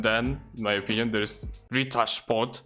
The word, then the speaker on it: Ritter Sport: in my opinion, there's Rita Sport. That's how you pronounce it, by the way. It's not Ritter Sport.